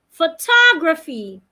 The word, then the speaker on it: photography: Another example, photography. Photography. In photography, it also has three syllables. Photography, okay, it has four syllables. Now the stress has moved from the syllable. Photography.